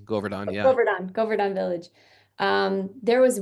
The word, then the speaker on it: Govardhan: The Godarvan village. Did I say it right? Govardhan, yeah.